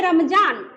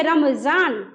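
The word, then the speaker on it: रमज़ान: तो देखिए इसमें उच्चारण में, यहाँ पे देखिए, अगर ये नुक्ता नहीं रहता तो आप पढ़ते रमजान, नॉर्मली पढ़ते रमजान, बट नुक्ता है तो पढ़ेंगे रमजान।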